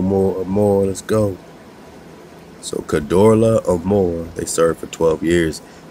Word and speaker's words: Kedorlaomer: And all the kings of the cities of the plains had served Kedorlaomer for 12 years. And they spell it K-E-D-O-R-L-A, apostrophe O-M-E-R. So you kind of hear that Omer or Amor.